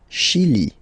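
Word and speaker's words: Chili: the the pronunciation of the nili shili okay remember say as sh okay okay final uh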